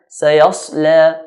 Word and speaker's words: سيصلى: Sayasla, sad is one of the heavy letters. Even if it has a sukoon, it's still considered to be heavy. Sayas, then lam is light. La, sayasla.